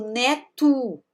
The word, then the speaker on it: neto: Temos aí o neto. Esse aqui eu vou pronunciar como O. Neto, neta.